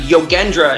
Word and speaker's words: Yogendra: But Yogendra is my last name. It's a hard G.